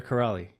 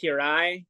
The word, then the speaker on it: Kiraly: Is it Corrali or Corrali? It's Corrali. Corrali. Corrali. It's actually pronounced Kirai in Hungarian.